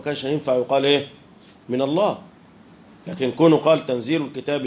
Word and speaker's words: الله: هتبقى هو واخد بالك الكلمه دي بتكتب بخلاف ما تنطق يعني انت لما تنطقها بتقول ايه الله يعني لم الف ومع ذلك هي بتكتب ايه لام لام مش كده ولا ايه